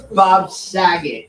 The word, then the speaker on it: Bob Saget: dog Seer song ever ever made no it's Bob Saget it's pronounced Bob Saget Bob right but that